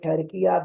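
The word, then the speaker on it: Türkiye: If we say Pakistan, if we say Turkey despite of Takia, that means that we have wrongly pronunciated the name.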